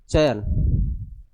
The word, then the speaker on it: चयन: Example के लिए मैं बता रहा हूं, जैसे चयन, क्या बोल रहे हैं अपन, चयन, चयन, तो इसमें अय का प्रोनाउंस हो रहा है।